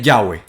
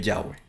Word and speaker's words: Yahweh: pues entonces eh eh aún así tiene su manera de pronunciar y su manera de pronunciar es es Yahweh. Su verdadera forma de pronunciar es Yahweh, ¿verdad?